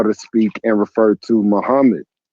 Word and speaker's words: Muhammad: Muhammad's name is not properly pronounced as Akmad. Muhammad's name is properly pronounced as Muhammad.